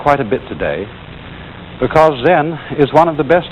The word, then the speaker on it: Zen: this experience is dominant then of course is a Japanese word and it's spelled zem and that is the Japanese Way of pronouncing the Chinese word Chan and this in turn